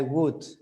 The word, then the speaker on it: would: Remember the pronunciation. Wouldn't. No L, no would, would, would. Would. Sounds like madera in English, wood, wood.